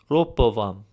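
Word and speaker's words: Ռոբովամ: Likewise, with the name Rehoboam, in Armenian it was pronounced Ropovam, again with a P sound instead of a B sound.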